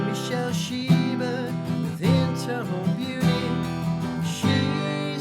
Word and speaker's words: Michelle: from uh my shell which is actually michelle name of a girl but michael pronounced it my shell uh michael you can